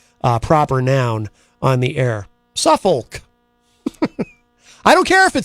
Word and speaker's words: Suffolk: Gen X Radio said in a news release, Gough was presenting the show from his home in Suffolk. I know you're not really supposed to pronounce the L, but I'm just afraid.